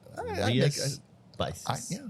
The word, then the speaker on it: Rías Baixas: And so I never knew how to pronounce that. Rías Baixas.